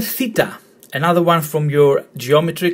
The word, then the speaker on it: theta: in a Greek word, it's always pronounced th, as in theme, theory. And remember, different to how you pronounced delta, which is there and then, this is th, not the, it's th. Theta, theme, theory.